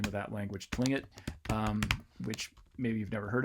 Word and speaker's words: Tlingit: to that rule where if you're comfortable saying this as Tlingit, you will. But a lot of cases, apparently even when you say it like that, people hear it as Klingit.